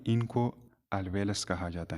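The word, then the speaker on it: alveolus: तो ये हो गया एक अल्वेलस का स्ट्रक्चर। ये क्या है, अल्वेलस। ये हो गया एक अल्वेलस, या अल्वियोलस भी आप लोग प्रोनाउंस कर सकते हैं।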